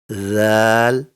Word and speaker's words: ذ: When the tip of the tongue touches the inner edge of the two upper front teeth, the sounds Sa, Zal, and Gha are produced.